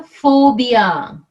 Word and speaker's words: phobia: it's not pee yeah phobia not pee sounds like f yeah P n is